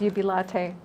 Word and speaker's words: Jubilate: that as a combined effort nice yeah now UB latte is that a coffee shop it almost sounds like it doesn't it it's actually spelled like jubilate but the Latin pronunciation is Ubi latte but oh I see you yeah latte yeah